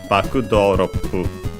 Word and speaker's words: バックドロップ: Also, baku on its own, accented on the first syllable. And actually, doropu on its own on the ro, doropu. While it becomes baku doropu.